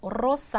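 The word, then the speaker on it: rosa: 이로사 발음할 때 하셨어요 레가 단어 앞에 나오면 르 발음해서 로사 해 주신다 아로 끝나니까 여성이어서 우나가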